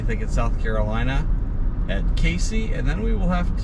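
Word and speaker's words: Cayce: I think you pronounced it Casey, South Carolina.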